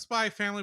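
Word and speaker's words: Spy × Family: family whatever it's called It's pronounced spy family but if you're Googling it it's spyx family because anime yeah down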